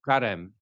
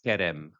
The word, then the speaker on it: karem: Karem, transliteration karem, English translation vineyard. In Lebanese, we say karem. In Hebrew, it's kerem. So I've chosen the Lebanese pronunciation for this word.